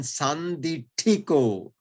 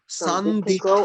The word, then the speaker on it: Sanditthiko: I mean, where do you put the accent? How do you say that? Sanditthiko or yeah. Sanditthiko. Sanditthiko. Yes, okay, but why? Yeah. But why on the second?